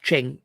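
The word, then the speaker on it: Qing: that for sure oh Queen should be pronounced Ching apologies thank you Jared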